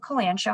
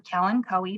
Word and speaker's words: kalanchoe: is a type of kalanchoe, and it has those nice, or kalanchoe, depending on how you like to pronounce it.